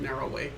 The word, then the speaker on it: Arrow Way: Arrow Way, but the locals pronounce it Narrow Way.